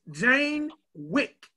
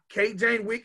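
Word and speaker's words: Jayne Wyk: Miss Jane Wick.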